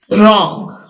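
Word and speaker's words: wrong: इसमें W silent है रंग इसमें डब्लू साइलेंट है राइट में डब्लू साइलेंट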